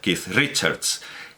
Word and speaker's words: Keith Richards: que bueno últimamente la la costumbre que adopto es irme a la transliteración en ruso a la transliteración en cirílico porque ellos Bueno pues pronuncian bien pero sin lujos sin grandes o sea pronuncian de una manera aproximada Pero y me he quedado asombrado de que por lo menos en Wikipedia la transcripción la transliteración de ki richards de kith richards es kit kit digo No hombre